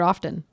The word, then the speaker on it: often: you say the word often often often or often oh often often or often say often often spell the T I say the T of okay how do